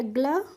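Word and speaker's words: glue: पीछे भी बताया था यू के बाद जब ई होती है तो उसका हम प्रोनाउंस नहीं करते हैं तो जी एल यई है तो हम इसको क्या पढ़ लेंगे ग्लू ठीक है ऐसे ही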